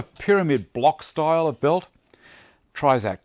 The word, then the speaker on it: Trizact: Trizact, T-R-I-Z-A-C-T, I think you pronounce it that way.